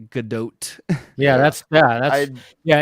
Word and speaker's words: Gadot: say yeah because because everyone I was saying gdau because it looks like a French pronunciation to me and then everyone was saying gdat and I was like that that feels way